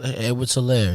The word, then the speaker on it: Edwards-Helaire: Edwards-Helaire, yeah.